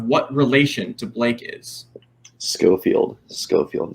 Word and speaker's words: Schofield: Schofield, not Sheffield. There's an H in there.